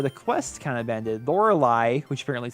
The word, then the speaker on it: Lorelei: that's that's where the quest kind of bended Lorelei which apparently is how you pronounce it said that we need to go